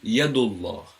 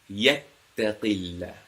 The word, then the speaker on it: Allah: as you can see you have the Fatah or the Dhamma before the allah means you pronounce the allah with a round mouth heavily and then the second